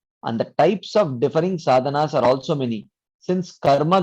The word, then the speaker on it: साधना: Proji, I've heard many times in other lectures that that this word sadhana, that is pronounced as sadhan, especially when somebody speaks in Hindi.